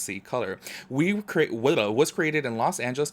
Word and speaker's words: C-Color: C-Color Cosmetics, pronounced C-Color, was created in Los Angeles, California in 2017 by a team of creatives and professional makeup artists.